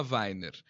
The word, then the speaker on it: Wainer: como é que É pronuncia seu Zulfilmer? sobrenome? Weiner.